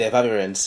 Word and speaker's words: Efavirenz: Did I even pronounce it right? Did I get it right? Yes, you did. Efavirenz.